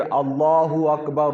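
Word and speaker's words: الله أكبر: हम ऐसे ही पढ़ेंगे अगर मिलाकर पढ़ना है तो फिर अल्लाह हु अकबर अल्लाह हु अकबर रात के ऊपर पेश ए गया पर जबर नहीं है रापर पेश है अगर हम मिलाकर जब अल्फाज कहेंगे तो रापर पेश पढ़ा जाएगा तो वह कैसे पढ़ा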